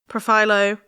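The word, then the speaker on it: Profhilo: profo is that how you say it yeah profo oh I feel like this is going to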